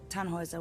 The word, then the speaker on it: Tannhauser: what's your name Tannhauser we'd pronounce it tan Wazza with an umlaut German roots yes my